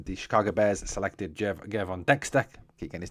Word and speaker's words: Gervon Dexter: The um the Chicago Bears selected Je Gervon Dexter. Keep getting his name wrong. Gervon Dexter.